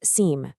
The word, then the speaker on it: SIEM: It's pronounced seam, and it stands for security information and event management.